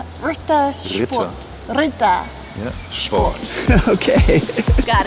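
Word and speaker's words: Ritter Sport: Rittersport.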